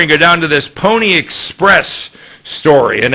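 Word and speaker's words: Pwnie Express: skip this story and go down to this Pony Express story and it's spelled p-w-n-i-e you'll see it on the screen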